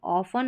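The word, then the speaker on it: often: ऑफन, ऑफन, ठीक है, T silent है तो ऑफन, अक्सर।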